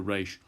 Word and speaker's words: reish: And then after tsade, we have kof, which we've dealt with, and then reish is the R sound, r, however you pronounce an R, that'll do for reish.